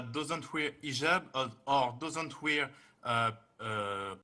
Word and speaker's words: hijab: with an h and I know in France they don't pronounce the h when it is in the beginning of the word as inel or Alo